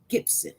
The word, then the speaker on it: Gipson: says say his name tyreese gibson with a p gip gip gibson all right you guys